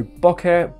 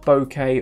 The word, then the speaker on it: bokeh: good subject isolation so bokeh bouquet or bouquet however you want to pronounce it is simply Japanese for